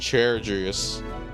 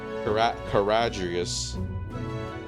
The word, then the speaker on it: Caradrius: Okay, I was pronouncing it completely wrong. I was saying Charadrius. Caradrius.